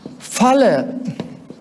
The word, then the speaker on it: phala: PHA should be pronounced as F. This is not a Pali class. Should be pronounced as F. F.